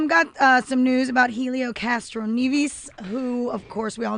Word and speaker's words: Castroneves: And all I know is in watching him in the little Indy 500 world, he goes by Castroneves. Okay. But, hey, if you have a different alternate pronunciation, then you go with it.